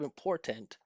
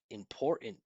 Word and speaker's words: important: Here instead of important, I would pronounce this as important. Important. Now notice this part is standing out is really clear. And this part almost disappears. Listen. Important in in right. If you hear I'm not pronouncing this vowel at all.